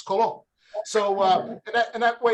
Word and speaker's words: Colon: name all right so people say that's not cologne that's colon i said no no no it's it's it's spelled like the intestine but sounds like the fragrance colon so uh in that